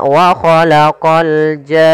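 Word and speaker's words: وَخَلَقَ الْجَانَّ: Maka waalaqal jan baru masuk ke nun. Panjangkan janya dulu enam harakat baru masuk ke nun. Wahalaqal jan.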